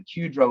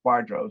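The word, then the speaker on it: QDRO: we've been using because one of my partners pronounces the kudrow instead of quadro and you know but everybody in the call pronounced it quadro so i i i feel redeemed with that um i also while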